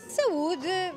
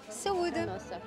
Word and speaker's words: saúde: Saúde, but like to your health, like health. Yeah. Saúde. A nossa. Saúde.